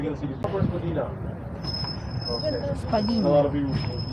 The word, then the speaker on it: Spadina: First Spadina. Okay. A lot of people Spadina. So actually the right pronunciation is Spadina actually.